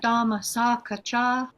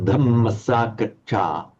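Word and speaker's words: dhammasākacchā: Kalena dhamma sakacha Kalena dhammasakacha. kalena dhamma sakacha Right. You want to make this dhamma dhamma dhamma short, but with a very distinctly pronounced double N.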